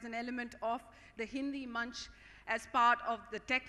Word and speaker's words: मंच: its Essence primarily uh Munch of course all Indians will understand Munch is uh a platform unlike the munching bit that you have phonetically the same word uh in English but